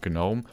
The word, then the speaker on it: gnome: can i'm not a gnome gnome gnome why is there even a g if you don't pronounce the g munchie noodles i'll i